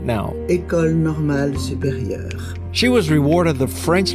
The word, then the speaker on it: École Normale Supérieure: So you're going to listen to her pronounce the school right now. École Normale Supérieure.